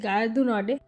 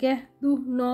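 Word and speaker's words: Gare du Nord: আমি যে উচ্চারণটা করলাম ফ্রেঞ্চ ভাষায় উচ্চারণটা ঠিক সেরকম হয় না, যতটা আমার কানে শুনে মনে হয় গ্যাহ দু ন বলে কিছু একটা বলছে, কারণ এরা আর্টটাকে ঠিক করে বলতে পারে না।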